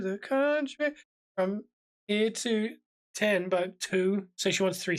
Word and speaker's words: Timbuktu: from City to the country from here to 10 but two so she wants three syllables she basically drop it off the edge